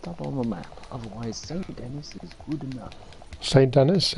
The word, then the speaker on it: Saint Denis: Someone was like, oh, it's not pronounced St. Denis, it's pronounced Saint Denis.